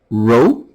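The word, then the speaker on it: rho: Uh here, these are pronounced as row. These these are Greek letters.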